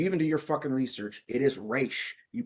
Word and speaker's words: Ra's: Ra's al Ghul in that movie, and I'm like, did you even do your fucking research? It is Raish. You pronounce it Raish.